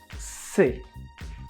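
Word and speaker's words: c'est: pronounce it like this si we don't pronounce the t at the end c is the equivalent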